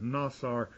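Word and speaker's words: נָצַר: w- TS a r nasar sounds like Nassau a prime root to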